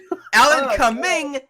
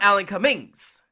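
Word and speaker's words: Alan Cumming: Alan Caming, not Alan Caming's.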